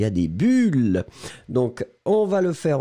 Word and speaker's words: bulle: Vous soufflez et il y a des bulles. Donc, on va le faire ensemble encore une fois. On y va. Le premier, U, bulle. Et le deuxième, ou, boule. Premier, bulle. Deuxième, boule.